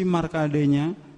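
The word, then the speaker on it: Markandeya: Jadi bahasanya kita pakai ejakan Sanskrit asli. Jadi bacanya Resi Markadenya dengan beberapa sapi juga kerbau yang berwarna putih.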